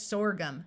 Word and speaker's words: sorghum: OR says or, so this word is sorghum.